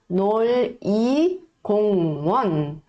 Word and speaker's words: 놀이공원: Então se a gente for ler um por um, seria 놀이공원. Só que quando a gente for ler mais rápido, a gente não vai pronunciar com som de L, e sim com som de R, tá?